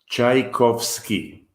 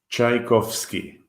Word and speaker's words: Tchaikovsky: pronounce his name Tchaikovsky Tchaikovsky I don't know to us who speak Russian we don't even never think of of this name being difficult to pronounce Russian the tea in Russia is chai so so in American Union